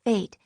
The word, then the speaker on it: Phaet: Because my name's pronounced Phaet, it sounds like destiny's calling every time someone addresses me.